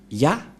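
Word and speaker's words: יה: que selon les Hébreux, ce terme se prononce ya, Y-A-H, et lorsqu'on va le regrouper avec le va, ça donne, qu'est-ce que ça donne?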